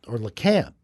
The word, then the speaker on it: Lecompte: There's not much in LeCompte, or LeCamp, actually, is how they say it there. Really? Yeah, it's LeCamp.